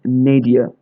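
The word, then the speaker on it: nadir: Word is नेडिया। ये पढ़ने में नादिर जैसा लगता है बट इसकी प्रोनाउंसिएशन है नेडिया।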